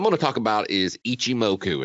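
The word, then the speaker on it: Ichimoku: to talk about is Ichi moku and no I didn't sneeze that's how it's pronounced um you're in the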